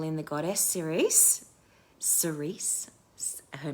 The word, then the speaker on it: Ceres: And just remember that you can also call in the goddess Ceres. Ceres. Her name is spelled Ceres, Ceres, and she's the goddess of the harvest,